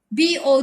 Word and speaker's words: bow: to be different also in their pronunciation we pronounce b or w as a noun we pronounce it as